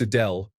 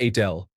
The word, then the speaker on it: Adele: Thought her name was Adele, not Adele.